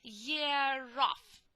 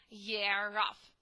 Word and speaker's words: year off: Year off. Year off. We pronounce this r because the next letter is vowel. That is why we say year off.